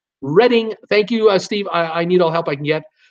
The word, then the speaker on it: Reading: Steve Chapman, it's pronounced Reading.